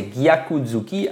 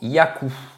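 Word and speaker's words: gyaku-zuki: prononcent mal ce mot ils disent tout simplement Yakou donc le G saute hein on dit plus gaku c'est Yaku mais le problème c'est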